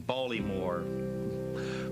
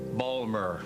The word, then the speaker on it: Baltimore: People would mispronounce the name, Baltimore, Balmer.